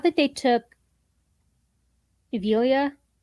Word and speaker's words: Avila: Rams would take um not that they took evilia right is that how I pronounce it Avila yeah I don't think they were gonna take